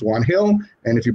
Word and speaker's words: Juan Gil: some people don't know the brand and they pronounce it one gill but it is actually like you say it's actually pronounced juan hill and if you pronounce it in spanish they